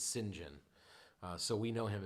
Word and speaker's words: St John: brother-in-law's middle name is saint john which the the british pronunciation is sinjin uh so we know